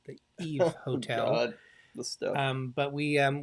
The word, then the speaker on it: YVE: yvee it's sorry it's spelled y-e-v-e but it's pronounced the Eve hotel um but we um we stayed in